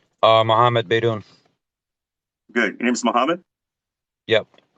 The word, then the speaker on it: Beydoun: His last name is Beydoun. Okay, so spell his first name for me. Okay, his last name, spell it for me, please.